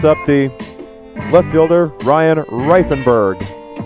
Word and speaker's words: Reifenberg: It brings up the left fielder, Ryan Reifenberg. I was told very specifically on how to pronounce that name, Reifenberg with 1 F.